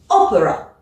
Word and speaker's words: opera: sur une seule syllabe comme le mot ici Opera tu vois je suis obligé de bien insister sur le début Oper maintenant et bien dans